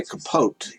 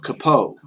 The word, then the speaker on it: capote: But according to one person in a video, because capote is a French word, the T is silent. So a lot of people say capote, but it's capote.